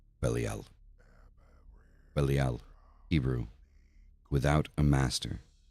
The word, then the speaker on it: Belial: air; the morning star, the east; Belial, correct pronunciation, Belial; Belial, Hebrew, without a master, basenness of the